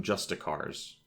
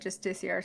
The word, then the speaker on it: Justiciar: In the cutscene for Bloodstone Fen, he calls them Justicars. Yeah, I remember when he said that. I remembered that was the weird pronunciation. Am I crazy, or is it spelled Justiciar? It is spelled Justiciar. I've always said Justiciar, so I must stick with that.